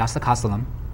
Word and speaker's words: Oscillococcinum: And I take the oscillococcinum. 1 dose. Pronounce that once again for me. Oscillococcinum.